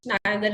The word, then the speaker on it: neither: Neither is in British, neither is in American. So आपकी मर्जी है, आपने neither use करना है या neither, okay? Okay, ma'am. Both are spelled correctly. Yes, they Okay, are. Yes, the pronunciation are correct.